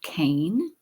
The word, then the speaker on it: Kahn: It's an amusing diversion, and tax litigator Eddie Kahn pronunciated Kane.